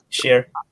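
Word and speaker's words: Schär: Help me with the name, Scar or Shar. How you pronouncing him? Share. Share has been awesome at the back.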